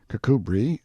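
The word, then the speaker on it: Kirkcudbright: style being The Honorable Kirk cudbright Lanover Marjorie Banks sellers Viscount Berkeley of charmandali Castle Warwickshire pronounced kacubri slanover Marsh Bank sellers VI count Barkley of Chumley Castle Yorkshire he is standing by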